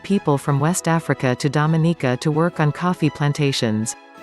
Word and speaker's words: Dominica: Its name is pronounced with emphasis on the third syllable, related to its French name of Dominique.